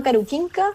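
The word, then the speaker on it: Karukinka: El parque se llama Caruquinca, esa es la pronunciación en castellano, lamentablemente no puedo pronunciarlo en Selknam.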